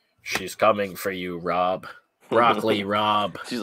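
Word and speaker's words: broccoli rabe: So in like Broccoli Rob, it's spelt with an A, but it sounds like an O.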